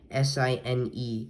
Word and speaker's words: sine: So in order to pronounce sine, it's pronounced like S-I-N-E, sine, but this is what you would write for sine.